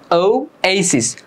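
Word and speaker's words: oasis: রূপান্তরিত হবে এন ওইসিস তোমরা এটা অনেকেই ভুল উচ্চারণ করবা ওসিস পড়তে পারো এটার মূল উচ্চারণ হচ্ছে ও এসিস ও এসিস এরকম আর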